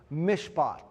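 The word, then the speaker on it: מִשְׁפָּט: If you look at justice, the word in Hebrew for justice is pro is pronounced mishpot.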